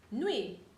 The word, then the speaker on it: nuit: So UI is pronounced we, like with, nuit, bonne nuit, nuit.